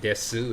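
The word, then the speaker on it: です: in Japanese is this but you can say Desu if you want to you can't pronounce the uh it's not a problem and if that makes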